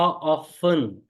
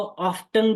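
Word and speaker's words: often: करने वाले हैं हा ऑन इसे बहुत से लोग हाउ ऑफ्टन भी बोल देते हैं हाउ ऑफ्टन बोल दे चाहे हाउ ऑन बोल दे टी साइलेंट कर ले दोनों तरीके से चलेगा तो हा ऑफ्टन या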